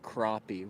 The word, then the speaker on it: crappie: crappy crappy or crappy crappie with an O even though it's spelled with an a crappie like the hedges are getting bad